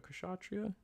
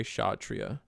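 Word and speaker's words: Kshatriya: I'm going to try to clear a cas a kashatria. In English you pronounce the ka part. In Indian you just say shhatria. Both are corct.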